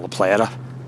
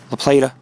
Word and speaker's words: La Plata: The rocky wall, folks, is we're almost in La Plata, or La Plata. Depends how you want to say it. La Plata, probably, because A is pronounced ah, like adios.